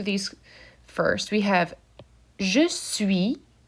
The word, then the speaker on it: suis: here for just sui you'll notice that that final s is silent so it's there and